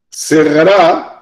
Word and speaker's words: cerrará: Cerrará con acento en la última A, cerca del mínimo del día y me quedan 11 segundos y carambola cerrará ¿cuál es la carambola?